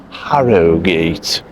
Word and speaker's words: Harrogate: town of Harrogate which if you're well spoken you would pronounce Harrow- Gate and we've got company